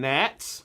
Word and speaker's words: gnats: No, more like hemoglobin afficionados and gnats. Oh, and they spell that with a G. It's silent.